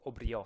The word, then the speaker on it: brioche: brioche je sais pas brios aussi brios avec de s je sais pas pourquoi mais c'est la prononciation italienne de brioche donc faites attention parce